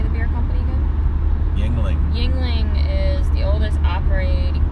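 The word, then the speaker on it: Yuengling: Yingling.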